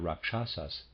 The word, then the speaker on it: rakshasas: the Indians readers aside Raksha sauce is spelled RA k sh ASAS rakshasas and the readers aside